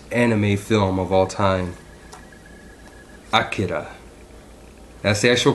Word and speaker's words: Akira: if the greatest anime film of all time Akira that's the actual pronunciation pronunciation by the way some people say Akira but it's actually Akira and just for the record well most people